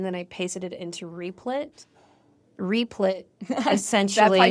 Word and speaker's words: Replit: But I took that code and then I pasted it into Replit.